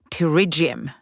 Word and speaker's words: pterygium: The medical name is terriium. You know, like with a silent P.